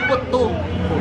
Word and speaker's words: puttu: Daw puto sa aton pero pronunciation puttu.